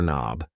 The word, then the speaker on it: knob: here is a door knob yes the K in knob is silent and these things here